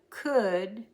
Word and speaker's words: could: And remember this word from earlier, the silent L. I could put my foot there.